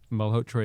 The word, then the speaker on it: Malhotra: Malhotra is exactly the right pronunciation. Wow. That's the Indian pronunciation.